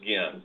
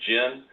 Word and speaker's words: Ginn: My last name is Ginn. It's pronounced Ginn, but everyone calls me Jen. I hear it Gwen.